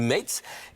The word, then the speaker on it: Metz: Alors nous on le prononce à la française mess mais dans ça s'écrit mates.